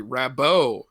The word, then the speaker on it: Rabbot: comic they retcon that her name is actually rabo it's a French pronunciation she's from she's from like a Mobius new orans I like that that's yeah cuz rabbot is uh little on